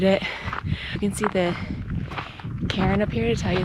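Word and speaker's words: cairn: You can see the Karen up here to tell you that you're on the path. A Karen is it's spelled C A I R N S and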